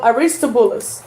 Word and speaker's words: Aristobulus: But Aristobulus.